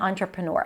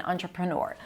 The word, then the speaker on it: entrepreneur: But this word is derived from French and it kept the spelling. So the first sound in this word is on.